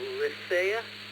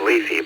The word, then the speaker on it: Lethe: Lythea? Is that how you say it? Alpha? Well, I think it's Lethe, but everyone's got, a different idea of that according to the way the Greeks pronounce it.